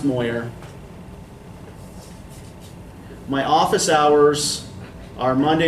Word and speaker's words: Moyer: It is pronounced Moyer.